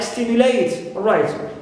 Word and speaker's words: stimulate: Also, verbs or three-syllable verbs ending with eight, like indicate, like stimulate. Although they end in their final syllable, or they contain diphthong A, but as they end with eight, here we stress the first syllable.